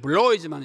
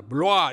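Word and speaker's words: Bloy: 그 다음 두 번째는 레옹 블로아, 영어로는 블로이지만 이게 블라는 사람이니까 블로아 이렇게 읽어야 맞습니다.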